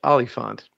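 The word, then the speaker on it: oliphaunt: Yeah, and I believe it's pronounced Oliphant. Okay, fine. It's an O, right?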